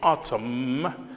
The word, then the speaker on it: autumn: the fourth one is autumn great now autumn which letter is sanity autumn so n is silent now word formation again